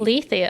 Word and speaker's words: Lethe: Do we have the correct pronunciation? I had to look it up. Lethe. Lethe, okay.